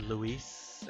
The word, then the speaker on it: Lois: I gonna give to Lois and I know it's supposed to be pronounced to Lewis I think it's like the French or something but I like Lewis better ah you must be